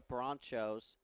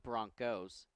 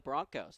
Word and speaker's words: Bronchos: bit more about the Bronchos. I actually am mispronouncing it. Apparently, it's pronounced Broncos with a hard K, even though it's spelled with a CH.